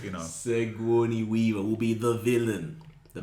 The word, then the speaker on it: Sigourney Weaver: It's Sigourney Weaver.